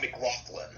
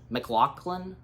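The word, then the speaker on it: MacLachlan: Cliff Vandercave, being played by Kyle, how's his last name pronounced? Help me out. McLaughlin. McLaughlin? McLaughlin.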